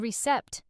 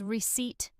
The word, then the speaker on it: receipt: Many learners pronounce the P strongly, saying recept, but the P is silent. The correct pronunciation is receipt.